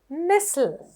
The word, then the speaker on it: nestle: Nestle. Nestle කියනකොට T එක silent. Nestle. T තිබුණට T pronounce කරනකොට එන්නේ නෑ ඒ වචනේදී ශබ්දයක් විදිහට එළියට.